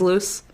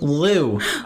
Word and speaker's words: Lou: Like Will Smith, but his clothing is loose? Lou? Lou. There was no loose there.